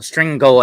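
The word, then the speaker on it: strigoi: vampire in Romanian language a stringle uh stringo actually how you pronounce that and then you have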